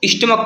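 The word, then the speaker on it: stomach: जैसे यहाँ पर लिखा हुआ है स्टमक, क्या पढ़ते हैं इसको? स्टमक पढ़ते हैं।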